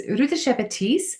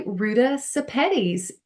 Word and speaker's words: Ruta Sepetys: It's RUTA SEPETYS, and you pronounced it so beautifully at the beginning. Thank you. But I go by RUTA SEPETYS.